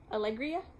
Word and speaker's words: Alegria: base which is called Alegria Alegria is how you say it but yeah lots of